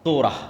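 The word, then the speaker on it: תורה: যখন তাওরাত দেওয়া হলো তোরা বলে ইহুদিরা উচ্চারণ করে তোরা যখন তাওরাত দেওয়া হল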